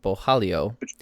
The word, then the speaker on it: Borralho: I know how to pronounce his last name because I took a note, but this guy, Borralho, Borralho, it's Borralho, versus Omargadzhiev.